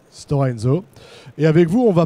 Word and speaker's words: Stora Enso: Est-ce que j'ai bien prononcé? Stora Enso. Stora Enso.